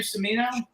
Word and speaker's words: Cimino: Is that how you pronounce his name? Cimino?